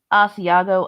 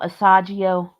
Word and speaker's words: Asiago: She pronounces Asiago, Asagio.